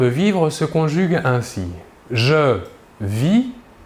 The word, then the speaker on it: vis: Nous remarquons que la prononciation du verbe est la même, vit. Nous ne prononçons ni la S finale ni la T finale.